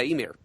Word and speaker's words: Ymir: She prays to her father, the god, is it pronounced Ymir? Yeah, Ymir.